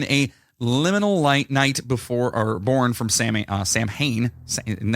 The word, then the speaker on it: Samhain: So Halloween has always been a liminal night born from Samhain, and that's how you say it, right? Samian. It's pronounced like Samhain.